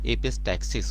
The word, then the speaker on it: एपिस्टैक्सिस: देखिए यहाँ पे स्पेलिंग में कई जगह एपिस्टैसिस भी आया है, कंप्यूटर ज़्यादातर एपिस्टैसिस रन कर रहा था, ऐसे एपिस्टैक्सिस होता है ये.